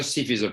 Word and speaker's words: suffisent: In other words, the ENT of that they form is never pronounced. So, si toutes ces excuses ne suffisent pas, so ne suffisent pas, the NT is not pronounced.